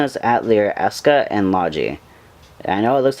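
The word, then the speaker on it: Logy: games this one is at lear eska and Lodgy I know it looks like it says logi but it's pronounced logic and they come on the PlayStation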